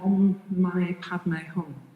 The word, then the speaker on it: Om Mani Padme Hum: And the mantra is pronounced on it Om Mani Padme Hum.